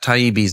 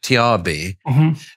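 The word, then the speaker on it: Taibbi: he made the mistake he couldn't pronounce Matt taibi's name he kept on saying Matt trb and then he started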